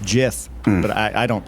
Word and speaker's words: GIF: or GIF but well the guy who invented the format said it's pronounced Jiff but I I don't